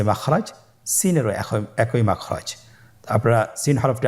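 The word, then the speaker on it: سين: Scene হরফটি উচ্চারণ ক্ষেত্রে অবশ্যই তিন আলিফ টেনে পড়তে হবে। সিন হরফটি বারিক হরফ পাতলা করে উচ্চারণ করতে হবে। তাহলে আমার সাথে বলুন সিন আবার বলুন সিন মাশাআল্লাহ।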